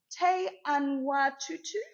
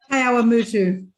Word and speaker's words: Te Awamutu: Te Anwatutu? Oh, not even close, girl. Te Awamutu.